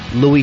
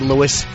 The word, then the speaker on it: Louis: All the comics, Voss, Stephen Lynch, myself, Louis C.K. And on the promo, could they stop pronouncing it Louis? It's not Louis. I know. Do they say Louis C.K.? Yes, Louis. He is Louis.